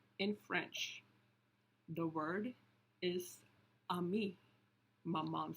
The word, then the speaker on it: ami: The word is ami, my mom says. You say it like this, ami.